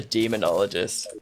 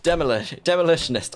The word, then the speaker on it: Demolitionist: And we got the demonologist. No, not demonologist. Demolitionist. I always pronounce that wrong, and I don't really know why.